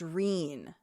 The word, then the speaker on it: Rean: Oh, it's because in the audiobook it's pronounced Reen.